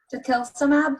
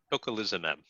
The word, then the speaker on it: tocilizumab: Collins sobre esta medicina, tocilizumab, what was that, what pronunciation? Tocilizumab.